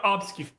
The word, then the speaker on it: obfuscate: Admiral Gibbs, when he entered this conversation, he was trying to obfuscate.